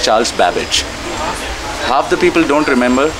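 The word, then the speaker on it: Charles Babbage: current people similarly Charles babage how many people pronounce his name correctly right correctly right now it's Charles garbage or Charles gabage it's Charles babage half the people don't remember Blaze Pascal who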